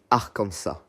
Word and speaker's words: Arkansas: D'ailleurs, en français comme en anglais, le S à la fin ne se prononce pas. On dit Arkansas.